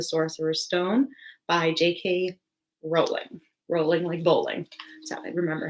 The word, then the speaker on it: Rowling: Potter and the Sorcerer's Stone by JK Rowling Rowling Lee bowling remember how to say her name